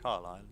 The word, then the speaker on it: Carlisle: Castle Carlisle Carlisle, I think. That's how you pronounce it. Carlisle. You leave out the S's.